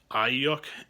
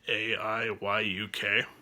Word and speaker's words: Aiyuk: Brandon, I believe it's pronounced Aiyuk, Aiyuk.